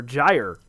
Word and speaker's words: gyre: um but anyway um someone says jeer hmm they're gyre yeah gyre gyre okay pronounce j-a-i oh god even just saying j-a-i is hard j-a-i space you are okay gyre cool widening gyre event uh